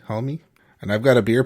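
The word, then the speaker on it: Hulme: parker homemade murder case that's how you pronounce that one last name h-u-l-m-e homie and i've got a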